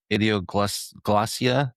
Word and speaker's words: idioglossia: Cryptophagia and then idioglossia, is that how you say it?